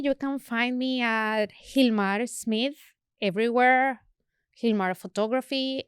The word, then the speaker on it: Gilmar: can find me at Hilmar Smith everywhere he's more photography and Hilmar is spelled with a G but is pronounced with an h and that's that's about